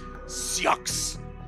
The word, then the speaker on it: Sioux: Oh, it's pronounced Sue. Oh, that's right. Sioux. That's right, I forgot it's Native American.